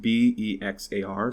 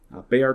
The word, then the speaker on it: Bexar: say so the uh they are which is pronounced b-e-x-a-r so it's you know it looks like bexar but pronounced they are in spanish because san antonio is a very hispanic region right so bayar county sheriff javier salazar has written a letter